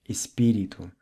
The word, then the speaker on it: espírito: Words ending in TO are pronounced with the U sound like espírito, oito, 8 or ocho in Spanish, and rato, mouse or ratón.